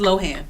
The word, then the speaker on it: Lohan: It's Lohan, just like Lindsay.